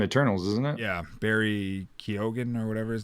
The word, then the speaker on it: Keoghan: his name yeah k-e-o-g-h-a barry keoghan or barry keegan i think it is keegan i think that is how it's pronounced um but i love